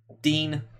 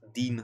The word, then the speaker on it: Digne: So Clement Leroux says Balbuena or Digne. Dean. I keep trying to pronounce it as well. Dean.